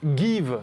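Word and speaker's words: Geev: Voilà, ça s'appelle Give. Give comme to give en anglais.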